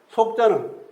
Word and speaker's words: 屬: 속자는 붙을 속 붙일 속 또 부탁할 촉도 있습니다. 붓을 촉으로도 발음나고 여기서는 속이지만은 촉으로도 발음납니다. 엄밀히 말하면 촉이 맞다고 생각하는데 촉으로음을 단 천자문 해설 수도 있습니다.